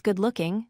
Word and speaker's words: good-looking: Next, practice good-looking, which means attractive. Here, the stress is on the second word.